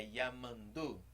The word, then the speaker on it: Nhamandu: Então a sílaba forte é sempre a última. Não é orero, nem orero e nem... Perdão, não é orero, nem orero. É oreru. É yamandu, tupã. Sempre a última sílaba que é a mais forte.